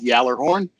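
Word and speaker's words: Gjallarhorn: one this one's rough it's from the Swedish version but it's called Yeller horn that's GJ a ll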